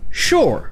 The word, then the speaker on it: Shoah: cas dans un mot le mot shoah vous avez donc ici le son chef pêcheurs et vous aurez